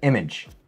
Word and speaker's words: image: Image。